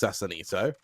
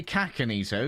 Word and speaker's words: Sassanito: the name pronunciation now we've been told that sasanito i think it's sassanito we've been told based off like the sound of assassin because they said do not say kakanito because kaka is poo